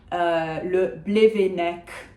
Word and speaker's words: Le Blevennec: So Nolwenn, le Blevennec. We do pronounce that final C, Nolwenn Le Blevennec, I guess, in English.